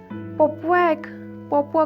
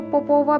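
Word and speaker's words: Popova: पोपुआ को पोपोवा भी पढ़ा जाता है, लेकिन ये आप इंसान पर खुद पर डिपेंड करता है किस तरह से इसको प्रोनाउंस करना चाहता है। 2 प्रोनाउंसिएशन हम करेंगे यहाँ पे, पोपुआ और पोपोवा, ये 2 हैं।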